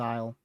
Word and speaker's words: isle: I know um last time up in the uh northeastern US I pronounced it uh like almost like island and that was dead wrong and someone said isle.